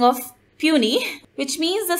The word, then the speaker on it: puisne: The word puny is the phonetic spelling of puny, which means the spelling of how the word P-U-I-S-N-E is pronounced and has been adapted in English as such.